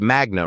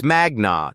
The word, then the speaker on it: magna: You said magna cum laude Harvard Law in your introduction, but you pronounced magna wrong. It's magna, not magna. Latin stress patterns fall on the penultimate syllable when it contains a long vowel.